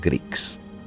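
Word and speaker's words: Grick: reality they are called Greeks. G-R-I-C-K, like a Greek person.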